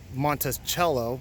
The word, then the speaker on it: Monticello: that's Thomas Jefferson's home Monticello pronounced by Italian meaning small mountain little Mountain Monte Montes mountain cello is little but that's in the